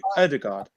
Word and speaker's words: Odegaard: How do you say Odegaard?